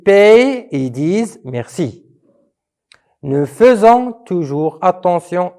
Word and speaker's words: faisons: Nous faisons à la fin ONS, mais faites attention comment ça s'écrit faisons. C'est F-A-I-S-O-N-S, donc faisons, mais on la lit faisons.